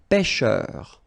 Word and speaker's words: pêcheur: So remember when you've got this accent circonflexe, you know that's the name of this accent. On the top of E, it will open the sound. So you get really open. Okay, so pêcheur. And then E-U-R, heure.